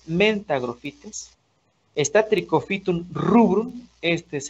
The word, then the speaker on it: mentagrophytes: Si hablamos del género Trichophyton, está Trichophyton mentagrophytes, así se pronuncia, mentagrophytes.